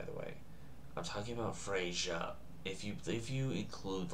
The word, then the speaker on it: Freyja: I'm talking about Freyja. If you include, like, if you're talking about how to spell it, F-R-E, for America's purposes, Y-J-A, otherwise F-R-E-J-A. Freya, regardless, is how you would say it.